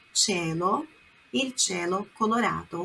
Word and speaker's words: cielo: Il cielo, cielo, olha a pronúncia, não é cielo, é cielo.